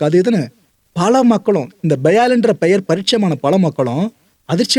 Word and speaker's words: Baal: இதை பால் நேம்னு ப்ரொனவுன்ஸ் பண்ணக்கூடாது, பயால் அப்படின்னு தான் அதோட ப்ரொனன்சியேஷனு. இந்த பயால்ன்ற வார்த்தை உள்ளே வந்துச்சா, இதை பார்த்துட்டு பல பேரும் ஷாக்கு.